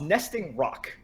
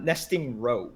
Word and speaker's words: Nesting Roc: it's the rock Roc I read as Roe because of how it looks on the card they look very similar